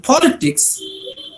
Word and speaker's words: politics: In politics, you see the letters given in the red color, right? So the stress falls on the first syllable, politics.